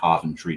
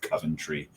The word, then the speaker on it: Coventry: Cent tree and that's pronouncing it properly centry not Coventry right um if you're it's